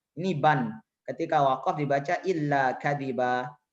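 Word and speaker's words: إلا كذبا: Ketika waqaf dibaca illa kadiba. Illa kadiban dibaca illa kadiba.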